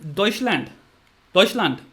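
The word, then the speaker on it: Deutschland: और जर्मनी को कहते हैं डॉइचलैंड। जर्मन लोग कहते हैं अपने देश को डॉइचलैंड या जो भी प्रोनाउंसिएशन होती होगी बहन, मुझे नहीं पता, बट डॉइचलैंड होता है।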